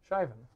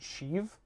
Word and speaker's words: Shivan: how you pronounce flying I usually say she even Shivan Shivan like the the Irish name or whatever do you pronounce it sheave like I think honestly